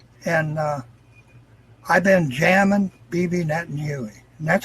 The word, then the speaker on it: Netanyahu: at the throne and I've been jamming Bibi Netanyahu and that's how you really pronounce his name in Hebrew it's netting you my name Huey there's some more and I have more videos